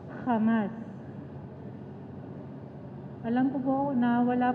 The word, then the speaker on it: Hamas: kasi alam ko po yung kamas o hamas dito sa Philippines pero yung pronunciation po sa israel is hamas Alam ko po na